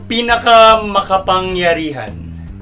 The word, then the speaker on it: pinakamakapangyarihan: Anyway, so number 6, pinakamakapangyarihan. So yeah, that word means the most powerful. And I pretty much said it properly. Yeah.